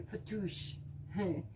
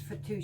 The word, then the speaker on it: fattoush: tonight and I'm making what's called a Mediterranean fattoush the only way I could pronounce that is fatou salad so in order to make this though